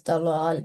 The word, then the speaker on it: ضلال: Yes, it is a thick letter, and you were pronouncing it not in with fuller mouth or in thick sound. So try pronouncing this word again. ضلال. Yes, dalal.